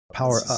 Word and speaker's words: Powa Up First: So in 2013, your band Powa Up First, which when I was like trying to pronounce it, and I said, oh, it's Powa Up, Power Up.